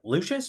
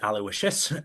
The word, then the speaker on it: Lucius: So it is a way so it does require a little bit of human you know listen to it like Lucius is not pronounced alowishious um so we are